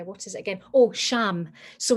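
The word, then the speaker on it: ksham: is it again oh sham so it's spelt k s h e m it's pronounced sham because the k is silent and forgive me but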